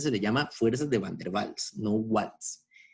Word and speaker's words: van der Waals: porque es un apellido alemán y los alemanes pronuncian esta obra en común entonces generalmente se le llama fuerzas de van der waals no watts y por el otro lado vamos